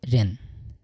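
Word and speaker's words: 热: ঠিক আছে, অনেক সময় দেখেন এখানে রয় রস্য অন্তস্থ একার রুয়া, আপনারা এইভাবে রুয়া বলবেন না, আপনারা বলবেন র, র।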